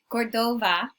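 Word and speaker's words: Córdoba: now the name cordoba you might also see it spelled and pronounced with a v both are correct and many times you'll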